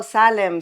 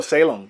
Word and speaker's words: Salem: So, in the US, everybody's like, "Oh, Salm. Salm." That's how you say it. Was Salm the city in Boston with the witch hunt. Oh, Salem. Salem.